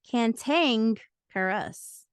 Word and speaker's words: cantankerous: t a n ke r o u s pronounced kantang carus it is an adjective defined as ill-tempered cranky